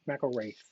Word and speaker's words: McElrath: is it McElrath or McElrath? Actually, we always pronounce it McElrath, but McElrath. McElrath is probably how they would say it in Scotland.